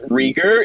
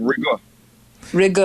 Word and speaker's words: Reegür: stuff but i mean the technical way that you would pronounce rieger is recall because um right right because it's almost like a yell sound like like a like you had a y in it so it's like rigor i like it i